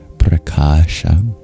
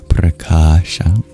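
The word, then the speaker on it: prakāśa: The word of the verse is preasha. P R A K A A S H A preasha.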